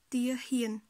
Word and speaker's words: ទាហាន: Ho avec le son a, ça fait hie, donc tia hien.